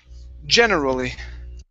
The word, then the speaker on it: generally: one here is generally the stress is at the very beginning generally generally generally all right